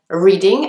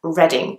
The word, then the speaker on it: Reading: next one is reading you might be tempted to pronounce it as reading as in I'm reading a book but actually in a place named is reading there is a famous